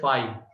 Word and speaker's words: phi: ठीक है, and it is denoted by phi, इसको प्रोनाउंस करते हैं phi, और कर्ली ब्रैकेट के अंदर में कुछ भी नहीं।